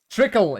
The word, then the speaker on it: Trickle: Is it called tickle or tickle? I think it's tickle, right? I always mix that up and people laugh about me. Trickle, yeah, the trickle. I always say it wrong.